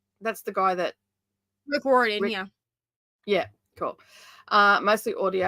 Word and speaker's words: Riordan: Is that how you pronounce it? That's the guy that... Rick Riordan, yeah.